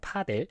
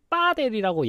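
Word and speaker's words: padel: 파델입니다. 파델. P A D E이라서 구글에 쳤을 때는 한글 발음으로 빠델이라고 얘기를 하는데 아 그러네요. 빠델이라고 나와 있네요.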